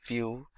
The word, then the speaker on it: Vue.js: complete web application solution vue.js is commonly referred to as View and pronounced as vuejs or view is rightly so now why should